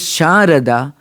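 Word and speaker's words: शारदा: One is pronounced as Sharada, the other is pronounced as Sarada.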